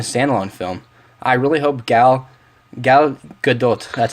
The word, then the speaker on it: Gal Gadot: I really hope Gal Gadot, that's how you say her name, can really be a great Wonder Woman and Princess Diana.